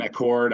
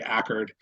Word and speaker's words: Accord: cool group um in accord I'm saying that wrong it's not pronounced the way the car is it's actually ackard um you'll get in trouble if you say a chord in accord New York